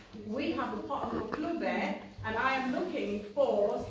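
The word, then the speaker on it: Maqluba: Maklube.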